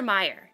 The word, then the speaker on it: Mayer: meyer meyer yes mercer meyer what do you i used to pronounce it mayer but then i heard somebody say it and it's like mercer meyer maybe it's maybe it's